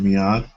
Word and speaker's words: Miad: page and um I've already given people that mads uh am I pronouncing your name correct is it Mead yes correct okay and your Twitter handle is